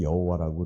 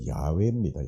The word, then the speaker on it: 야훼: 우리 이제 성경에 여호와라고 이렇게 기록이 되어 있는데 사실 이거 표기가 잘못된 거고 원래 야훼입니다. 야훼.